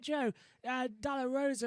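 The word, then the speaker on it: Pedro de la Rosa: corner that record at 131 447 set by joe dala rosa as well which had found out that's how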